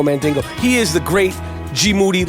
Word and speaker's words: Moody: He is the great Gmoody. Last name rhymes with duty.